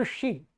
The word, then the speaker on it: ऋषि: ठीक है, ये क्या है, ऋषि, री नहीं है, अनेक प्राय करके लोग इसको ऐसा उच्चारण करते हैं, ऐसा री, रा और ये री नहीं, री। इतना आप मेरे माउथ जो मुख है उसका मुंह देख रहे होंगे, री ऋषि ऋषि।